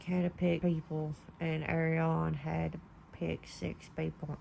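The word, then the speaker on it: Aerion: And seeing Dunk going against Arion, that's how you say his name.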